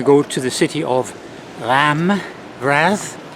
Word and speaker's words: Reims: I was actually going to go to the city of Raz, I think that's how you pronounce it, Raz. It looks like Reims, but it's Raz.